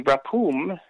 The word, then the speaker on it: Rephaim: Well, because Og was the last of the Rephaim. And you have to Right. understand, the Rephum is the way the Canaanites would have pronounced it, at least as far as we know, were the dead and deified kings of old.